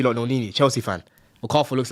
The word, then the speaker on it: Okafor: I'd rather I'd rather have Okafor, bro. Yeah? Yeah, but why would you rather have First of all, pronounce his name correct.